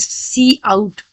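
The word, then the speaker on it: cout: सी और pronounce as सी आउट।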